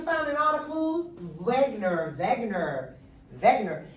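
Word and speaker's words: Wegener: So these are evidence that what Wagner is pronounced Wagner with a V.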